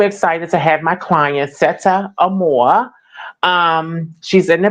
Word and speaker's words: Sette: And it's pronounced set, by the way. Just set.